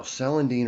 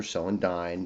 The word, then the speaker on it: Celandine: Now, Celandine or Celandine, depending on how you pronounce it, can often also be called a St.